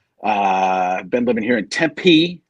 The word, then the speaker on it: Tempe: So I've been living here in Tempe. That's how you know how to hit the I like that. Those syllables, like Tempe, not Chandler or Scottsdale, but Tempe.